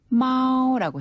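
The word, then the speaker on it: 猫: 정말 이렇게 발음해요? 정말 그렇게 발음해요. 마오.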